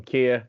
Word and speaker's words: Kia: well hey everybody I'm Kia yes it's pronounced just like the car very easy to remember um I'm currently the